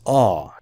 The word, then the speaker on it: awe: This is pronounced as awe, just like law.